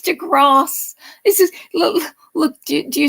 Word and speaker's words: deGrasse: white um he used to call him Neil Degrassi Tyson I'm going it's to Grass this is look do you see do you